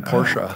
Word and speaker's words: Porsche: I can do it Ferdinand Porsche who created the company that's how he pronounced his name porsa I don't know Ferdinand